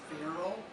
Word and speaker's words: Beryl: And I must add that my mother's name was Beryl, with a V, rhymes with Carol.